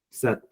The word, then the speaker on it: cet: So which is in French it's ce, cet, set. So we pronounce both set, se, te, and se, te, the same manner, but we write it differently.